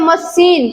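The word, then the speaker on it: machine: और यहाँ पे सी के बाद एच हुआ तो इसका उच्चारण क्या हो गया, स हो गया। इसको पढ़ते हैं मशीन, क्या पढ़ते हैं, मशीन।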